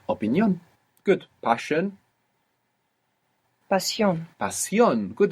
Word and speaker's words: Pasión: Pasión. Pasión. Good, and you pronounce the S, because we don't write sh.